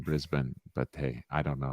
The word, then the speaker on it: Brisbane: yeah it's probably like a lot of americans saying breezbain rather than brisbane but hey i don't